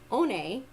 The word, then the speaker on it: Oney: this and streamed it, I learned that it was pronounced One. But she also admitted that even though most likely it would be pronounced that way, that it could be pronounced a different way too. We don't know for sure. But the most common way when it is spelled Oney was One.